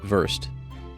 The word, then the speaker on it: Wurst: how do you say worst? Versed. Oh, Wurst. Yeah, there it Wurst.